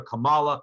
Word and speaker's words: Kamala: other people call her kamala kamala kama kamala i've heard people chastise because they don't say her name like comma like the comma like the punctuation mark so i just very